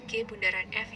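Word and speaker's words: g∘f: Nah, ini dibacanya G bundaran F ya.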